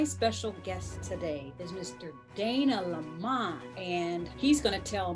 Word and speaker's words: Dana LaMon: you did get my name right i am dana lamont and you pronounced it correctly i am in lancaster california